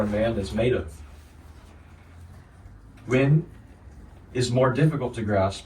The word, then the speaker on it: wen: Wen and chur. Wen is spelled W-E-N, and chur is spelled C-H-I-H.